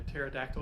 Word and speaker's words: pterodactyl: can't hear when a pterodactyl goes to the bathroom because the P is silent yeah um never missed